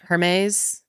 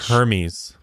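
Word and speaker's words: Hermès: say this brand Hermes like the Greek like Hermes but Hermes he went to Hermes and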